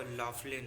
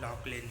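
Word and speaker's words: Laughlin: आप कहेंगे वो लॉकलिन क्यों कह रहे हो, वो तो लॉफलिन है, पर इनके नाम की प्रोनाउंसिएशन लॉकलिन ही है, इस वजह से।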